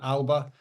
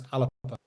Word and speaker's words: Alba: I've had you can pronounce it either way, English or Gaelic. So English is straightforward, Alba, and Gaelic is Alapa.